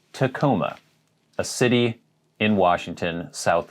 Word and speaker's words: Tacoma: would really mispronounce but i've actually heard some people say tacoma it is tacoma a city in washington